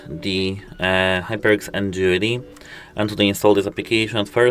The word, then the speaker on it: NGenuity: It's pronounced NGenuity and spelled NGenuity.